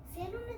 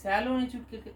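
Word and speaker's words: salon: তুমি চুল কেটে এসেছো কালকে কালকে তো আমি সেলুনে চুল কেটেছি ও আবার একটা ভুল উচ্চারণ করলো ভুল প্রোনাউন্সিয়েশন করলো ওর বলা উচিত কি ছিল আমরা সেলুনে নয় আমরা স্যালুনে চুল কাটতে গেছিলাম একচুয়ালি প্রোনাউন্সিয়েশনটা হবে স্যালুন দেখো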